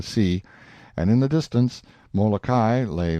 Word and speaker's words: Molokai: We came in sight of 2 of this group of islands, Oahu and Molokai, pronounced Oahu and Molokai, on the morning of the 18th, and soon